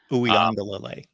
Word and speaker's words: Uiagalelei: So Uiagalelei. There's the syllabic proper pronunciation.